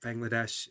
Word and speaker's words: Bangladesh: uh bangadesh Bangladesh um but Bangladesh is said very hardly like it has a soft edges but it's pronounced hard I remember you mentioning